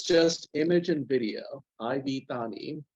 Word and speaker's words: iv: just image and video Ivy pronounced IV just like I how I said let me see if